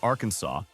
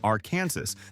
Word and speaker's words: Arkansas: You have to say the silent s correctly or you might offend the entire government.